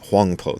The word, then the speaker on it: Huangpo: because that's sort of his proper name in in Chinese is huangpo that's how the the Chinese pronounce it the Japanese pronounce it obaku anyway here's what obaku